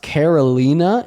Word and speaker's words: Carolina: It's pronounced Karolina. It's Portuguese."